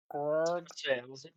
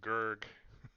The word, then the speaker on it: Gurig: How do you want to pronounce that, Jameson? Kind of a growl. Grog. I was imagining it was pronounced with a roll of the tongue in the back of it. Dog. Grog. There you go. It's actually quite the pronunciation. I like it. Of course, most people are just going to say Gurg.